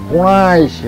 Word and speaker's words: পোড়াইশি: শোনো, আমার নাম হইল পোড়াইশি। শুদ্ধ উচ্চারণ করতে হবে, পোড়াইশি, বুঝছো?